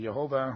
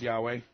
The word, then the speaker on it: Yahweh: And many people think it's pronounced Yahweh. Some say Jehovah or something like that, but I go with Yahweh.